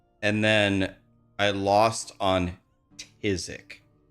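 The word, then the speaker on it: phthisic: Try to spell tisic. Tisic. None of you will spell it correctly without Google.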